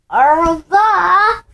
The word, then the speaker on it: au revoir: Au revoir!